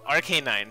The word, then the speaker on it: Arcanine: he hasn't no no not an article no arcanine sorry I mispronounced it I heard it rose